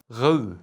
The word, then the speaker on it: Rode: No, I am apparently not allowed to say Rode. It's Rode.